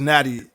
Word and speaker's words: Natty: you say your name it's just natty it's a natty baller like uh cincinnati natty oh i know i